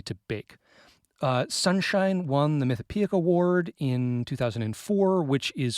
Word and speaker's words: Mythopoeic: Sunshine won the Mythopoeic Award in 2004, which is from, if people don't know, the Mythopoeic Society, which I'm realizing as I say that, I've never said that word out loud.